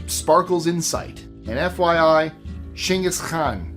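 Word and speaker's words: Genghis Khan: He wasn't American, so it would not be called Genghaskhan, in case you're wondering why I pronounced it that way. That's how the Mongolians pronounce it.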